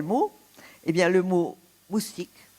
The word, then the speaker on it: moustique: Eh bien, le mot moustique. Moustique, on devrait dire mousquite. Pourquoi? Parce que c'est un emprunt à l'espagnol, mosquito, et pas mostico.